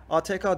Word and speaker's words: ATK: ATK diye okunuyor bildiğiniz üzere.